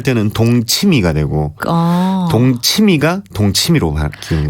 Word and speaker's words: 동치미: 그래서 동침 되는데 이걸 이제 일반에서 발음할 때는 동치미가 되고 동치미가 동치미로 바뀌는 거. 그러니까 발음은 동치미인데 표기는 동침이 네. 이렇게 되어 있습니다.